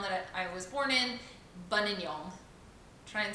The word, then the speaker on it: Buninyong: I just love to shock people with the name of the town that I was born in, Buninyong. Try and spell that for me. Again? Buninyong.